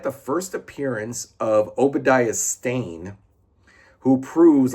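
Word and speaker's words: Stane: Obadia and stain like like a stain on a carpet, but it's not spelled like like a stain on a carpet or a rug.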